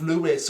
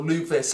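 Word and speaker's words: Leuvis: So even participating in the final battle with Lewis or Luvis, however you want to pronounce his name.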